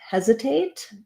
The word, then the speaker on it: hesitate: question about the word hesitate so some things to know about hesitate um it has first syllable stress this first letter e is going to say the vowel like in head or red letter s in hesitate